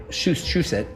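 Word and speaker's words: Shusett: Dan O Bannon and I think Ron Shushet, that's the way you pronounce it. Shush it wrote Alien to get a movie going with Corman.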